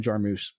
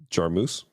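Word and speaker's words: Jarmusch: right now just like how John mispronounces his favorite director's name Jim jarmus because he can't say that jar moose yeah the dare don't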